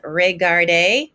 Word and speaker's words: regarder: And remember that ER ending is an A sound. Again, it's regarder, parler, écouter.